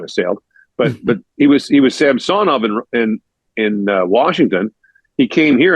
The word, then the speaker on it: Samsonov: But he was Samsonov in Washington. He came here, and the Leafs do a pronunciation guide where the players say their own name, and he said Samsonov.